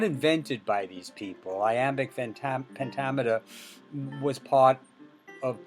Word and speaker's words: iambic: of i am is i am bick the b is silent and i am but you do pronounce it when it's adjective so i am becomes